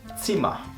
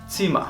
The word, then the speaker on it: Zimmer: La Z, al principio de la palabra, se pronuncia como una TS. Por ejemplo, das Zimmer, la habitación. Das Zimmer.